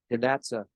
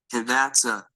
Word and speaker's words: Hidatsa: Hidatsa. And I will repeat again, but slowly. Hidatsa. Hidatsa. So that's one way. Another way that I found on another site might be slightly more French.